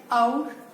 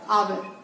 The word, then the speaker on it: hour: आवर को भी दो तरह से प्रोनाउंस किया जाता है, आउर और आवर। दोनों ही प्रोनाउंसिएशन जो है वो एक्सेप्टेड है।